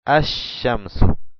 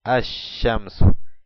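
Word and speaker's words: الشمس: el artículo abajo decimos as shamsu as shamsu no pronunciamos el lam pero si lo escribimos y decimos as asamu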